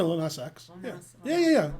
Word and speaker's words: Lil Nas X: Is that saying it right? Yeah, Lil Nas X.